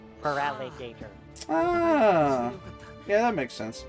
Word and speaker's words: Feraligatr: It's feral and gator. Feraligatr.